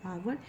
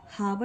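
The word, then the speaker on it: hour: यहां पे एन लगेगा क्योंकि इसको हम लोग हावर नहीं पढ़ते हैं। यहां पे एच साइलेंट होता है और हम इसको आवर पढ़ते हैं।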